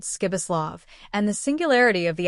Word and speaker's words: Pribislav: A peculiarity of this given name was that you were to pronounce it as though it were spelled Skibislav.